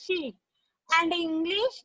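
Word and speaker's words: Xi: In Chinese is pronounced as she.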